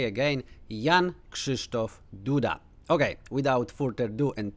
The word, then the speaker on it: Jan Krzysztof Duda: If you want to say like native Polish, then you have to say Jan Krzysztof Duda.